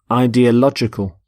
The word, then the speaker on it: ideological: and the adjective ideological ideological the stress is on Lodge in the middle ideological so the world is